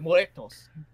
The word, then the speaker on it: muertos: You got to pronounce it. Yeah. Like muertos.